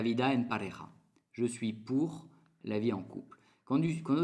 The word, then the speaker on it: pour: Por, en français, se dice pour. Pour. S'écrit quasi igual, il y en a ou, qui est de más, mais se dit pour. La O et la U, dans le sonido U. Pour.